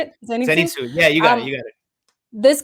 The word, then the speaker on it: Zenitsu: Zenitsu.